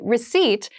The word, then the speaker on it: receipt: a very interesting spelling there is a p in the spelling of this word but we do not pronounce it the pronunciation is receipt a receipt is a small piece